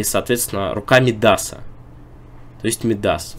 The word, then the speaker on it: Мидас: именно на последний слог и слово Мидас медас конечно же который вроде как можно перевести с английского Ну пришёл с английского языка многие много подумать Но на самом деле места - это не с английского А вообще из греческой мифологии если вы найдёте любой словарь то ударение будет на последний слог то есть Царь Мидас